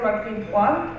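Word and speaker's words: Marquis-Boire: So to my left is Morgan Marquis-Bois, am I pronouncing it right?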